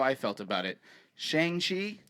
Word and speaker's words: Shang-Chi: Shang-Chi? Shang-Chi. I don't know, Shang-Chi. man. It's been like 38 years that I've pronounced it that other way.